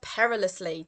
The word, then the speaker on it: perilously: looking at the word perilously today okay it's an adverb so it's describing how someone does something that's four syllables per release lee perilously okay and it's an